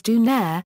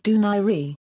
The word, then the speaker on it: Donaire: Bantam weight and featherweight his surname is often mispronounced as dunair but is properly pronounced as duni early life Nonito Don was born in talibon